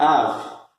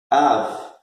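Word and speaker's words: אב: E a pronúncia é Av. Av.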